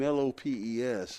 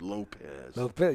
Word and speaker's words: Lopes: had today you know he spells his name l-o-p-e-s and he he's very adamant about having his name pronounced correctly and he'll remind you that it's not lopes it's lopez yes he does yes